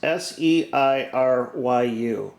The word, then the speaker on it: Seiryu: Hey Google, how do you pronounce S-E-I-R-Y-U?